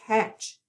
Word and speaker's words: catch: with our lesson today I am going to underline the trigraph we're going to give it a k back for that c and we have a short a sound and we do not hear that t so there's catch next word Trace Trace